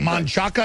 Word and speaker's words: Manchaca: Manchaca is Manchac, okay?